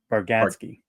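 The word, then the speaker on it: Bargatze: Next up, Storyland Studios announces developing a new theme park concept in a partnership with comedian Nate Bargazi. Is that how you pronounce it? Baradski.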